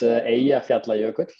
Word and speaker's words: Eyjafjallajökull: I was gonna ask you to pronounce that. Yeah, so it's Eyjafjallajökull.